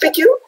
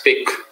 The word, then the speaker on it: Pique: and the herald and pique is that how you pronounce piku yeah it's pick pic okay pick his cartoons are now regularly